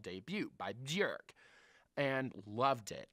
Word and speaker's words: Björk: So my second one, though, my bonus one is I have to give it out to the album Debut by Björk. Rhymes with jerk, Björk, or Bjork.